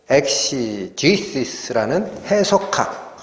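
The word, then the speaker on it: exegesis: 엑제게오마이라는 단어인데 영어 단어로는 엑제게시스, 발음은 엑시지시스라는 해설하다라는 단어, 자세히 풀어 말하다라는 단어.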